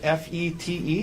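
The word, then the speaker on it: Fête: Tell us, well, first of all, is it F-E-T-E? Is that how you spell it? Yes, this first E has a circumflex over it. Okay. So, But it's pronounced FET.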